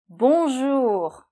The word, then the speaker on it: bonjour: je vous le répète, on fait bon jour. D'accord, le R se fait là, jour. Bonjour.